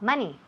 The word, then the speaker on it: money: Ok, so, todas esas palabras tienen el mismo sonido. M-O, pero se escribe M-O, pero se oye como si fuera una M-A.